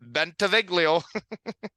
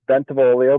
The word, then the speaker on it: Bentivoglio: in the shed biglio oh that pronunciation is a little off but I'll take it thanks for the intro it's bolio but I me bolio yeah perfect the g is silent the g is silent